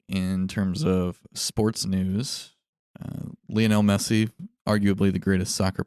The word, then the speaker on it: Lionel: Lionel Messi, arguably the greatest soccer player in the world.